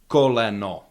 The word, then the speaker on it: koleno: Koleno. Koleno. Koleno. Vowels quality doesn't change depending on where in the word they are.